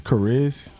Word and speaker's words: Chariz: I was going to ask you, man, how many people butcher your name? Everybody. Okay. Okay. What does that mean? It's Chariz. Oh, Chariz. It means Charisma. Charisma.